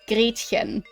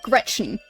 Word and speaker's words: Gretchen: Like, an example, the name Gretchen. The way you'd pronounce that in German is Gretchen. Not Gretchen. Like, that sounds like a skin disease in comparison.